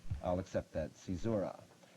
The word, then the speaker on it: caesura: Cicera. I'll accept that. Caesura. It's spelled C-A-E-S-U-R-A.